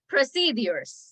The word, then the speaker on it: procedures: gonna type it sure procedures proced the pronunciation is procedures proced another one is surveillance